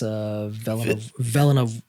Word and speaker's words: Villanueva: Dennis, I think it's Villanueva? That is correct. Yeah. I said it right.